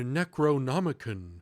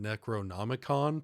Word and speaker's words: Necronomicon: And he's talking about how it's the Necronomican, which is how they pronounce it in most of the movies. I I would pronounce it necronomicon personally, aka the book of the dead.